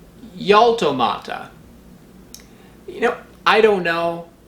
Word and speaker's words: Jaltomata cajacayensis: Mexican botanists generally pronounce the J as in the J in Mexican Spanish. So that would mean this would be Jaltomata cajacayensis.